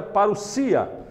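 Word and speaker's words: παρουσία: grêmio quer dizer para o dia que se pronuncia para o sia significa a vinda chegada presença volta visita real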